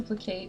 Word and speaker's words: placate: You're not just trying to placate me.